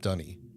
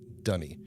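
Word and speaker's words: D'ni: this little note um every character who is of this actual culture pronounces it dunny and uh that's how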